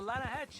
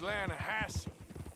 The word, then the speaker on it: Lahache: no no no no the the lahache it runs right near here yeah but it's pronounced lass why is everything in English said differently